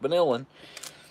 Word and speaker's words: vanillin: ascorbic acid and the vanillin like chilling like vanillin like a villain so weird spelled like